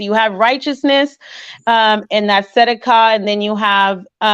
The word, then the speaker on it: Tzedakah: We're going to listen to Righteousness, and it's pronounced Sadak, and I'm going to play it again for you. Strong's H, 6666. Tzedakah. Tzedakah. So it's pronounced Tzedakah. I'm going to actually go click on it again just so that we know. It's Tzedakah. Okay?